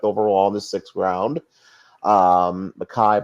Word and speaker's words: Mekhi: Makai, by the way, is spelled Mekhi, Mingo, Mingo.